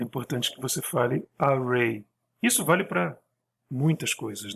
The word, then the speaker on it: array: com isso viu porque a pronúncia em inglês é Array Então quando você vai